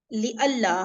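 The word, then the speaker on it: لئلا: ली अल्लाह, हाँ, नून साइलेंट होके लाम पे शद आ गया, सही है, इस तरह से करके।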